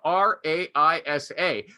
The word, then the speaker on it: Raisa: but this woman says my name is r-a-i-s-a but it's pronounced raisa and it's mis and